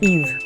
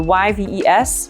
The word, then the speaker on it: Yves: And it's Yves. So the Y-V-E-S, you don't pronounce the S, pretend it's invisible. And you pronounce it Yves, like E-V-E, Yves.